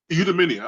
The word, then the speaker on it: eudaimonia: So eudaimonia, I'll spell it for you.